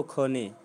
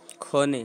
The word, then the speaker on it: ক্ষণে: Roman Sanskrit में के एस ऊंची ए से संयुगिया छ होता है। छ होता है ना, छ से क्षत्रिय। लेकिन बंगला में वही छ जो होता है कन्वर्टेड होके ख हो जाता है, ख से खरगोश। तो जी प्रोनाउंसिएशन हमेशा याद रखना है, खोने बोलना है, ठीक है ना।